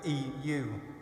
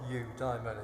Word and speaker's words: eudaimon: In another poem, eudaimon, it is indeed a daimon, and eudaimon, it's spelt in the Greek way, E-U-D-A-I-M-O-N. It's not eudaimon, it's eudaimon, the good spirit, the good daimon.